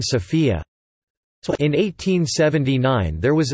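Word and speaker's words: София: abandoned through the years the city's name is pronounced by Bulgarians with a stress on the O in contrast with the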